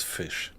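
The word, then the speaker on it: Fisch: So fish in German is fish. Only difference is the spelling. So in German it would be f i s c h, but it's pronounced exactly the same.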